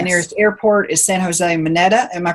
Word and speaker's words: Mineta: The nearest airport is San Jose Mineta. Am I pronouncing that correctly?